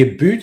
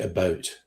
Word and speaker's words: about: suffer they it's the a boot is wrong they tend to say a boat they don't really say